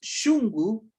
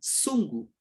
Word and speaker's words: shungu: Lo mismo en el quechua, mientras nosotros decimos shungu, el corazón, shungu, en cambio en el quechua solo pronuncian sungu, sungu, ¿ya?